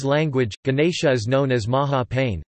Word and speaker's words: Maha Peinne: In the Burmese language, Ganesha is known as Maha Pain, pronounced Ma Pene, derived from Pali Maha Winayaka.